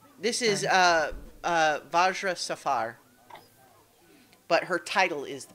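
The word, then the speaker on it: Vajra Safahr: what is her name this is uh uh vajra Safar but her title is the black staff so that's yeah that's spelled uh v a j r a uh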